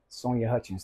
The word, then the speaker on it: Sonya Hutchins: I like to introduce the one the only Sonia Hutchins did I say that right yeah you said